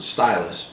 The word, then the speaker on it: Ztylus: It's spelled ZTYLUS, and I'm imagining that they pronounce it stylus, so the Z.